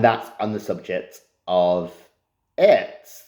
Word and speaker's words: airt: So first of all, I'll explain what the word Airt means, which is spelled A-I-R-T, Airt.